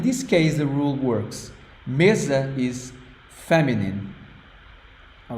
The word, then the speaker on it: mesa: sound e e m the S sounds like Z okay so it's not this is like a z it means table a table the on that you use in your dining room Mesa what do you think